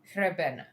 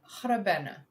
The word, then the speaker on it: Hrebena: How do I pronounce this? Because I'm not great at Polish. Hrebena. Okay. Oh, Hrebena. Okay. Hrebena. I can do that.